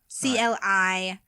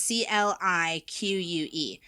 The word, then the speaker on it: clique: Oh, it's like fabrique. It's French. You know, it's very like, you know. There you go. So, clique. Okay, so you pronounce CLIQUE?